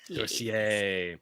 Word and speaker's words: Sorcier: Sorcier. So you were right, Blake. It does not rhyme with sorcerer.